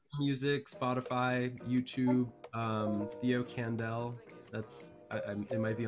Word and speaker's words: Kandel: spotify youtube um theo kandel that's i it might be on the screen but k-a-n-d-e-l it's pronounced like howie mandel spelled like candle with the k and the elm i